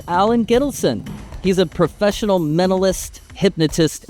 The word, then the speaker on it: Gittelson: Allen Gittelson, did I say your last name right?